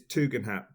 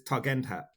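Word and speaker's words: Tugendhat: him the service of saying it how I know it's supposed to be said which is tugan hat but if I say how it's spelled it's funnier because it's tugend hat tug and that tug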